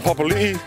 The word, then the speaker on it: Papalii: Papalii, Papalii, Murphy Taramax, Dalton Papalii, Papalii, Papalii, Papalii, Papalii. Kia ora koutou, nei mai, haere mai. We're here with Dalton Papalii.